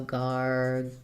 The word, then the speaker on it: gargantuan: Gargantuan, 4 syllables and second syllable stress. So we have that AR says the R sound. Like in the word are, we are, or car. So starting with gar. So we'll have gar. Then we have gan, second syllable stress. That second A is the a vowel, like in ran or grandma, gargan.